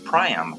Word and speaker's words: Priam: Okay, Priam apparently is how it's pronounced according to Faye.